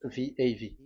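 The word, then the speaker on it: ו: So the way we read it is VAV. So we wrote it as VAV. We called it as VAV. VAV. Your claw, your mouth is like closed. VAV. So it's V as in Vogue.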